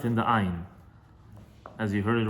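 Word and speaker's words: ע: But when you're using ayin, when you're saying ayin, when you pronounce ayin, you have to pronounce it very deeply, very hardly, because that is its sound. Ayin, ayin, ayin. It comes from the throat, like from the inside.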